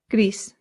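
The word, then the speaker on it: gris: This sounds just like the English word grease, like the grease from a pan or like oil. Grease. But in Spanish, you have to slightly round that R. So, grease. Greece. Good.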